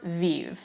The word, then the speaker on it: Vieve: I think it's pronounced Vieve. We're gonna call it Vieve, V-I-E-V-E.